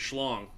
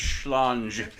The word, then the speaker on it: Schlange: You know, the word for snake in German is schlong. I think you're mispronouncing it slightly, but I believe it's schlange.